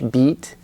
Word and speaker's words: beat: the bit beat distinction the bit beat foul II long vowel E and your tongue is cut it's like the Korean II but your tongue it's longer in English beat and then bit it's shorter but your tongue is more relaxed your tongue is a